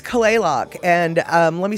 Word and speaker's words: Kalaloch: because it's not um it's not how you think you say it like clay lock you know c-l-a-y l-o-c-k clay lock that's not how you spell it you spell it k-a-l